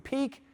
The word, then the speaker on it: Pique: com slash impact and peak t is spelled p i q u e t e a dot